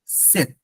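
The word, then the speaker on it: sept: সিক্স it's seize R seven is called সেথ সে পিটা উচ্চারণের সময় আসবে না লিখার সময় আসবে এই প্রবলেমটা আপনারা অনেক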